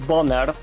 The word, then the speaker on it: Boner: whose name is boner we pronounce it as Bonner but it's time to